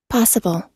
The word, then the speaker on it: possible: Possible. Possible. Impossible. Nè, con sẽ thấy nè, con đừng có đọc cái chữ bồ nó lớn lên, con nó sẽ âm trọng âm nó rơi ở phía trước nè.